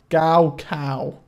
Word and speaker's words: Gaokao: Gaokao. Flippin' heck. It rhymes with Mao.